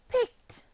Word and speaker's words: picked: Picked has the t sound at the end.